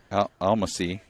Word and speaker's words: Almasi: Almasi. How do you say that? Almasi. Almasi. There you go.